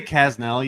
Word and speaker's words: Kasznel: I say Kasznel usually, but like there's an S and a Z. There's too many consonants. It's a weird name.